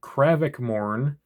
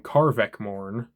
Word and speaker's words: Krevak Morn: Uh moving over to chaos though, we've got Krevak Morn, which I'm now realizing that in the first video I made on this guy, I called him Karvek Morn. That is not how you say it.